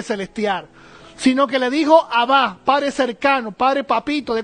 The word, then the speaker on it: Abba: cuando mencionamos esa palabra en arameo, Abba, tenemos que decirlo así, ¿no? No es Abba, ¿verdad? Que lo he escuchado muchas veces, Abba. No, el arameo, el acento siempre lo tiene en la última sílaba, Abba, ¿verdad?